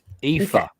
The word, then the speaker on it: Aoife: Aoife. It's like Eva with an F.